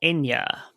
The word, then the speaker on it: Eithne: And they're also joined by Irish Navy patrol vessel Enya. Echnia. I don't know exactly the Irish pronunciation, but it's Enya. It's the name Enya, like the singer Enya. Uh-huh. It's just spelled EITHNE.